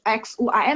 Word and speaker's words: Xuan: Ya, jadi kalau misalnya kayak X-U-A-N berarti bacanya Xuan. A-nya ada E ya.